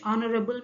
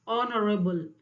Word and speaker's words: honorable: See the next question, dash honorable man.